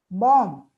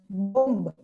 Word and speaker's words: bomb: For example, tomb, bomb, cow, lamb. And we tend to pronounce them as tomb, bomb, comb, lamb. But actually, the letter B is absolutely silent. It's tomb, bomb, cow, and lamb.